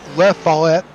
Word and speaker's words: Lafayette: So it looks like the city of Lafayette in Campbell County is the correct pronunciation.